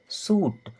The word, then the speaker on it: shoot: फिर लिखा है SHOOT, इसका सही प्रोनाउंसिएशन होता है सूट।